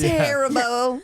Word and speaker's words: Haribo: or Haro at least Haribo Haribo oh it's Haribo hello ma'am you like some harabo sounds like Canadian wild and what did you